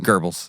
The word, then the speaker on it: Goebbels: Kraft probably didn't do much after that for the Nazis, but there's proof that this Goebbels, how do you say that? Goebbels, yeah.